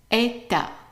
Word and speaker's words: état: So this is an A and this is an A. Everything else here is silent. How would you pronounce it? Right. Eta.